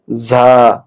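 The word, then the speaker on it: زاي: ঝা। এই ঝা উচ্চারণ করতে হবে জিহ্বার আগা সামনের নিচের দাঁতের গোড়ার সঙ্গে লাগাতে হবে।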